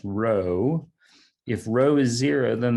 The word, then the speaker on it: rho: that's the greek r unfortunately it looks like a p but it's pronounced rho if rho is zero